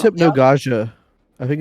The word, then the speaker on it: Hypnagogia: Hypnagogia.